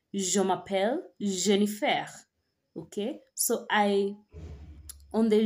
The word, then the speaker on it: Jennifer: will say je m'appelle Jennifer okay so I on the Jennifer that is how Jennifer is pronounced in French or or so in